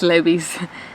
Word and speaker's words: Levi's: Yeah, it's Levi's.